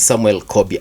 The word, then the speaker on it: Samuel Kobia: Reverend Samuel Kobia.